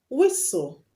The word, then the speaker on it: whistle: Examples of when you have TEL at the end of the word and you do not pronounce the T is castle, whistle.